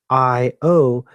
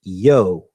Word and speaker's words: Io: The interjection I-O is pronounced either with two syllables, I-O, or a single syllable with the I becoming and pronounced yo, J-O or yo.